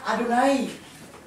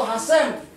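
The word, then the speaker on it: יהוה: YHWH. Bacanya Adonai. Ya, atau Hashem.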